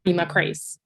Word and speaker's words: Reema Khrais: Reema, it sounds weird to even say it right, Reema Khrais.